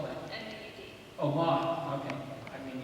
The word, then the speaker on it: Maud: It's Maud. What is that? Maud. How do you spell that? M-A-U-D.